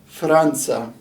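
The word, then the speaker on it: فرنسا: it so we have an f here with an r then a short a followed by an in with no vowel you see that line there an s long a franza franza and this is obviously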